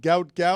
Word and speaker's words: Gout Gout: The biggest name in track and field is going to be named gout gout.